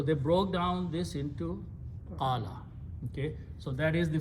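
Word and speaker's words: قال: Okay, but try to pronounce, it doesn't look very good. Qabala. Okay, so Arabs made it somewhat smooth. Okay, so what did they do? They said the sound of Waw with the Zabar is the sound of Alif. Zabar is the sound of Fatah or Alif. So they changed that word in writing as Qala. Okay. Change the Waw into an Alif and pronounced as an Alif. Qala.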